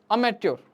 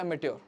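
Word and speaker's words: amateur: इनके मीनिंग्स देखेंगे और अमेच्योर अमेच्योर बिगिनिंग यह अटर मैच्योर मत बढ़ना इसको मैच्योर के स्पेलिंग य होते हैं एम ए टी यू आर इ मैच्योर ठीक है ना तो इसको बोलते हैं एमटर टायरो टायरो का मतलब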